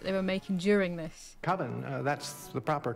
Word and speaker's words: Coven: Coven, that's the proper pronunciation.